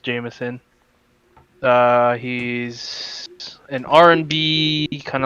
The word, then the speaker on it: JMSN: uh kind of uh the artist we're listening to is jmsn or jameson um pronounced jameson uh he's an rnb